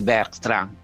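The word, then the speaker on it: Bertrand: অর্থাৎ সোজা উনি বলছেন না, আমি এই যে গাসপার দুলানু বই যে লিখেছেন তার নাম হচ্ছে আলোয়সিয়াস বার্ট্রান, আমরা ইংরেজিকে বার্ট্রান বলি, এইভাবে ফরাসি উচ্চারণ করে।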